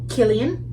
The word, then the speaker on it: Cillian: Stars Cillian Murphy and Robert Downey Jr.